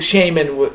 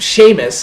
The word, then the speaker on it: Sheamus: you know his Feud with Shaman with Sheamus I'm going back into my weird mispronunciations again but um his